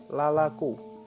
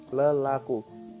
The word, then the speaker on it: lelaku: lah dibaca Dua kali menjadi lalaco tapi dalam pelafalannya kita biasa menyebutkan sebagai lelaku pun begitu dengan kata dasar